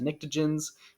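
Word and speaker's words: pnictogens: 15 is sometimes called the nictogens with like a silent p on the front so it's like panictogens but those don't get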